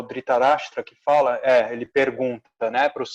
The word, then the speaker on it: Dhritarashtra: e cego rei Dhritarashtra, eu sempre falo errado a pronúncia desse nome, acho que é Dhritarashtra, né? Dhritarashtra.